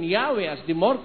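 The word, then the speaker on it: Yahweh: O inclining to view the pronunciation Yahwe as the more correct way, we have retained the form Jehovah.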